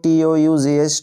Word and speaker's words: tough: একই রকম করে দেখো TOUGH, টাফ এর অর্থ হলো কঠিন।